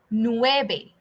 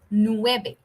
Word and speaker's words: nueve: Ocho Ocho okay and number nine is nuebe Nueve we sounds like B in Spanish a lot of times so you're gonna say nueve okay siete ocho nueve